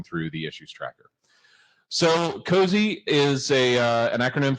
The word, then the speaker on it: COSE: Uh we suggest you pronounce it cozy. Uh it's not and not cozy just because cozy sounds cooler and that was kind of Kathleen's idea.